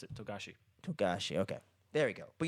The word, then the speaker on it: Togashi: Fuck, I mispronounced it. Togashi. Togashi.